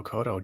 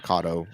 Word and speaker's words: Cotto: we were correct miguel cotto joe kodo is the same way yeah so it's not brawler it's not kato like cotton thank you emily ann